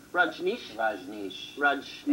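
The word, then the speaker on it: Rajneesh: the way look at ban R Nish is the correct pronunciation Raj Nish Raj Nish Raj I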